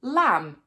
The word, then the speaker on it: lamb: Many words that end in MB or MN do not pronounce the B or the N. For example, lamb, thumb, hymn, solemn, autumn.